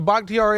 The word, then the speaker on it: Bakhtiari: So Bakhtiari, I just feel like, first off, you know, yes, you said it right.